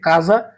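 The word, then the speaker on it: casa: আপনারা স্ক্রিনে দেখতে পাচ্ছেন সে আকা এটা কিন্তু ক এর মত উচ্চারণ হয়েছে অন্তত সবাই এই শব্দটা জানেন যে কাজা কাজা মানে হচ্ছে বাড়ি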